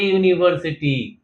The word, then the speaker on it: यूनिवर्सिटी: जगह पर लिख लीजिए यूनिवर्स इनका स्टार्टिंग साउंड जो है वो वाई ओ यू है यानी कि स्टार्टिंग लेटर इसका क्या है? वाई है। तो कसोनेंट साउंड से स्टार्ट हो रहा है। क्योंकि वाई इज नॉट a vowel. So वाई से स्टार्ट हो रहा है। कंसोनेंट साउंड से स्टार्ट हो रहा है। इसलिए इनके आगे ए लगेगा। ए यूनिवर्सिटी ए यूनिकॉर्न ए यूनिसाइकिल ना कि एन।